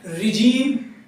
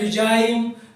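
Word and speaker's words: regime: रिजीम, रिजीम कहते हैं शासन करना, हम सब पढ़ते हैं रिजाइम, हमारे बहुत से प्रोनाउंसिएशन गलत हैं।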